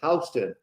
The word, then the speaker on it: Houston: Houston, but they call it Houston.